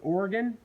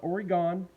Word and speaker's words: Oregon: my brothers but uh it's pronounced oregon oregon oregon oregon oregon not oregon oregon thank you second if